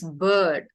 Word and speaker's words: bird: So you are pronouncing bird like this. This is actually a word, you know. A bard is a person who sings. Oh, yes. So a bard. So, but this is bird. Bird. We say bird.